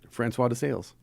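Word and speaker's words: François de Sales: Francois de Sales.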